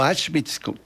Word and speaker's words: Auschwitz: famoso de la historia, Auschwitz, o Auschwitz, que se pronuncia también a la alemana, la doble U o W la pronuncian como B o como una F suave, y ahí pues le